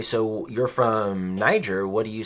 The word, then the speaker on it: Niger: That's how we pronounce it, Niger. But it's actually a country that speaks French, and I believe you pronounce it Niger.